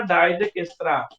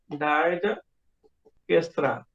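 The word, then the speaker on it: Dijkstra: डाइजेकिस्त्रा। डाइजेकिस्त्रा। तो ये स्पेलिंग थोड़ी अजीब सी लग रही होगी, ये साइंटिस्ट का नाम है DISJ है, DISJKSTRA, डाइजेकिस्त्रा प्रोसीड्यूर।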